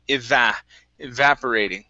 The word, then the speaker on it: evaporating: Right here, so our stress is right here on that A. So evaporating.